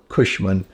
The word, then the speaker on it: Cushman: c h a e is so it's kushman c s h m n so dad was